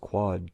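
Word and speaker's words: quod: In Latin, that is pronounced quad, Q-U-O-D, which has the same sound as quad, Q-U-A-D, the Latin root meaning four.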